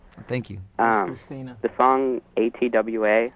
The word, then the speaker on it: ATWA: The song ATWA, how do you pronounce it?